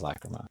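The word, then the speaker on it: Lachryma: Lacrima. Lacrima. It is Lacrima.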